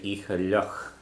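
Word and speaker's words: oíche fhliuch: But a wet night, you say icha luch. So because icha is feminine, you put a shevu on the f there, and becomes the fh is silent, so you just hear the luch part of it.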